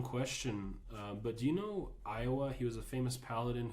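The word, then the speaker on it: Ioa: Billy, No, his name was Iowa, Yeah. and it's spelled I-O-A. like the state.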